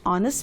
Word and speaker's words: honest: now danny is dash honest man see the options a and the now which one will we use yes and because here h is silent and so it's taking the article and there very good